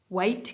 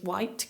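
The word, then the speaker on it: Waight: think in the past I've called her CLA weight Keller but it's white Keller um she is now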